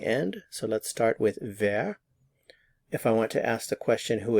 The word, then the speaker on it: wer: who in German is ver notice the pronunciation of the W ver who in German is ver and there are two